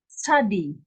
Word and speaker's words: Tzadi: This is a tzadi.